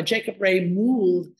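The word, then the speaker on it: Jacob Wrey Mould: This is a little thin house by Jacob Ray Mould, as I am told he was preferred to be, his name was preferred to be pronounced.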